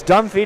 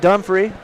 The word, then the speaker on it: Dunphy: It's Dunphy, not Dunphy. I'll get my you-know-what together here eventually, gentlemen.